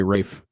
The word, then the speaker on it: Ralph: know where it's like no that's just not how Rafe is spelled you know it's about Ralph but we're gonna say Rafe and is this the